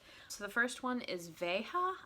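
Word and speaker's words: Veja: the first one is Vega I think that is how you say it v ej a this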